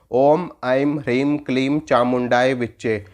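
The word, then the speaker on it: ॐ ऐं ह्रीं क्लीं चामुण्डायै विच्चे: मंत्र को देखो और उच्चारण कैसे करोगे उच्चारण देखो मैं बताता हूं ओम एआईएम हरीम कलीम चामुंडाए विच्चे ॐ आई एम हरीम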